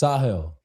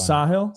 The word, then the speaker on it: Sahil: Um it's Sahil, not Sahil because it's an Indian name. That's why Sahil. Sahil. That's that's how I pronounce it. Sahil.